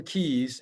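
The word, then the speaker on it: Kies: help you and then len keys and his his name is not spelled like it sounds uh len's last name is k-i-e-s uh and i'm gonna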